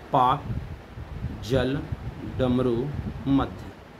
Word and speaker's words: Palk: Straight का नाम रखा पाक स्ट्रेट, उन्हीं के नाम पर पड़ गया। तो पाक स्ट्रेट PALK है, जबकि पाकिस्तान का PAK है, याद रखें एल साइलेंट है।